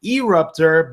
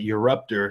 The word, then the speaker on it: Eruptor: talking about your ruptor some of you guys may call him erupt herb but I pronounce that you're up there so that's kind of the way it goes anyway this is live